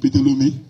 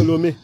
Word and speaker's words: Ptolémée: Le pasteur avait dit, pasteur, c'était encore qui? Ptolémée. Ah, j'avais mal prononcé. Ptolémée.